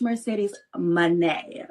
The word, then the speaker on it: Mercedes Moné: She's a future uh she make sure you say it right. It's Mercedes Money.